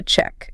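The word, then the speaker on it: cheque: In the UK, it's spelled C H E q U E. A check. A check. He paid by check. Check. Looks a bit French. But in the US, same sound, TK, but spelled C H E C.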